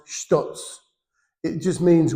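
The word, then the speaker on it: ひとつ: of them, it says what sounds like hitotsu, okay, is all that means is actually pronounced shitotsu.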